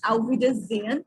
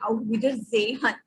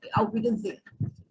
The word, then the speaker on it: Auf Wiedersehen: So it's Auf Wiedersehen, not Auf Wiedersehen. Many people stress upon H. It is not there. It should be kind of silent. The sound of here should be there. Auf Wiedersehen.